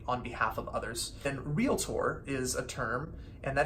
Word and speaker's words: Realtor: realtor not realtor not real at or some extra Vallon there it's real like real property real estate real tour and that is a